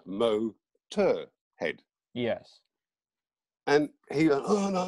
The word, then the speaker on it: Motörhead: german you know expect if you want the whole of the germanic world to mispronounce motorhead they're going to go mur tour head yeah not mo tur head yes and he oh